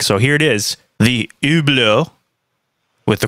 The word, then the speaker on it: Hublot: So here it is, the Hublot, with the correct pronunciation, which is not focusing.